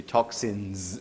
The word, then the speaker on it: toxins: debris entangled entangled toxins actually it should be toxins with a z not an s because why do you